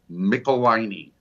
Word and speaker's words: Michelinie: Let me do it for you. Michelinie. Michelinie. Like pickle my knee, yes.